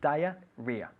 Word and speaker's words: diarrhoea: diarrhea diarrhea good diarrhea it's spelt rather in a strange way but it's pronounced diarrhea diarrhea okay if you had